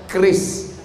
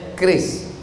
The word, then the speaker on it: QRIS: Tolong buatkan kris, QRIS. Cara bacanya kris.